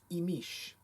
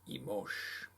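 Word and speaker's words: Imix: The Yucatecan pronunciation is Imish. The Guatemalan is Imosh.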